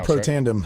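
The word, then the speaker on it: Protandim: And I actually took some Protandium, which is that's how it's pronounced. Yeah, Protandium. Right? Protandium.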